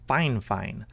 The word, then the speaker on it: Fifine: And by the way guys, I know that it's spelled Fifine, but apparently the correct way to pronounce it is Fine.